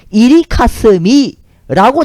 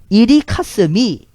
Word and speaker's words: 연개소문: 그 연개소문이 한자로 적을 땐 연개소문인데 그 연개소문이란 이름을 고구려식으로 어떻게 발음했다는지 일본 서기에 뭐라고 적혀 있냐면요. 이리카스미라고 적혀 있습니다. 이리카스미.